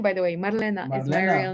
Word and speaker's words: Marlena: pronunciation is difficult yeah in japanese like there's no distinction between l and r which my real name is actually super difficult for japanese people marlena it's m-a-r-l-e-n-a so it's